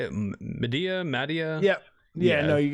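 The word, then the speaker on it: Madea: Medea?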